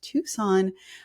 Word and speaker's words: Tucson: But yes, we know it's pronounced Tucson.